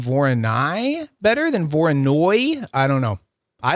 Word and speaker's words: Voronoi: So Kiran sent me like the word Voroni or at least how I would have pronounced it, Voroni. And then when I type in when I type in Voroni into Google, all I get is Voronoi. Oh, and it's a Voronoi diagram.